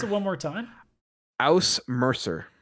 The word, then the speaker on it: Ausmerzer: You know, if you're going to give me a trophy, you might want to say how to pronounce it one more time. Aus Mercer. Aus Mercer.